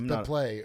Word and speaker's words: Beeple: It's Bepley. It's pronounced.